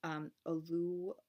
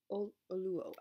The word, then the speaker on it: Oluo: Kendi and So You Want to Talk About Race by Ijeoma Oluwo. Oluo. I should have looked up how to pronounce her name.